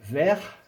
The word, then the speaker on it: verts: Les yeux verts. Attention, hein, vert plus S du pluriel. Il ne se prononce pas, mais il s'écrit vert.